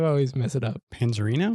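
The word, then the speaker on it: Panzarino: Panzerino? Panzerino.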